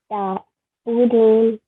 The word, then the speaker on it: تعبدون: La a'budu ma ta'budun. Very nice. تعبدون. Ta'budun. Very nice. Try to pronounce the ain from the middle of your throat.